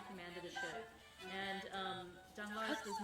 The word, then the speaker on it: Danglars: There's also a gentleman who works on the ship, whose name is Danglars, and I think that's how we're going to pronounce it, D-A-N-G-L-A-R-S, Danglars.